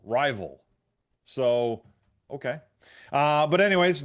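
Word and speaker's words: RYVYL: Cuz this is called Rival Ink and it's spelled R Y V Y L Rival.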